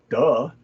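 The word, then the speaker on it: 德: things right duh and i don't mean d-u-h are are like duh but i mean duh duh this is this word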